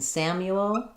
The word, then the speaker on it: Samuel: Um, we're going to have first syllable stress in Samuel, the a vowel like in sat. Um, and then you is going to um the the u is going to have the y sound and the ooh sound.